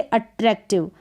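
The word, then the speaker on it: attractive: नहीं पढ़ रहे हैं, यहाँ पर आई को ई करके पढ़ रहे हैं और वी साथ में लग जाता है तो व इसका साउंड आ जाता है, तो ईव करके पढ़ेंगे और ई का उच्चारण यानी आई का उच्चारण ई हो रहा है यहाँ पर।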